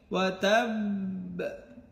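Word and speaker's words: وَتَبَّ: এখানে 2টা ঠোঁট চাপ দিয়ে ধরে ছাড়বেন, ওয়া তাব, একটু ধরে রাখবেন 1 সেকেন্ড বা 2 সেকেন্ডের মতো। ওয়া তাব, বাটা যেন স্পষ্ট না হয়ে যায়, ওয়া তাব্বা এমন না।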